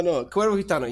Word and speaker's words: Cuervo Gitano: So are you referring to the Cuervo Gitano project? Is that that's how you pronounce it? I'm trying so hard. No worries. No. Cuervo Gitano, yeah.